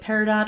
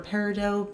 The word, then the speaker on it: peridot: Then we have the shade Peridot or Peridot. Both pronunciations are technically correct, but however you prefer it.